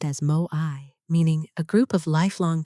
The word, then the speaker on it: moai: The fifth thing, moai, pronounced as moai, meaning a group of lifelong companions, not just casual friends. People you share resources with, support, and hold accountable. In Okinawa, children are placed into moai groups from a very young age.